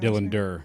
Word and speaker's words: Dylan Durr: Dylan Durr. Dylan Durr. D. Strong D at the end.